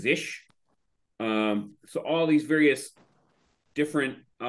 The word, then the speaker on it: zsh: There's a ZSH, which I think is pronounced Zish.